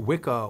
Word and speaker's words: Wicca: understand the pronunciation of what we call Wicca with a hard K nowadays was actually cha back then as in which or Stitch or Rich if I'm not mistaken